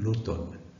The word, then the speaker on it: automne: de inter l'automne alors ça s'écrit automne mais ça se lit l'automne c'est surtout les parcs